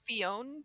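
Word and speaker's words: Phione: fion yes also accept fion because the E after the N makes it a long o yeah what does it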